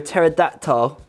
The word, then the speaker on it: pterodactyl: you never hear a pterodactyl go into the bathroom because the p is silent nice oh that's pretty